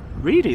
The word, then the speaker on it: Reedy: It's pronounced Reedy, that is, yeah.